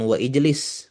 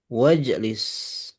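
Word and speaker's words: وَاجْلِسْ: Ya hamiduktub ijlis udkul wajlis bukan wa ijlis wajlis.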